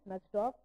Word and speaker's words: Najdorf: The Najdorf, it's written as Najdorf, but it's pronounced as Najdorf.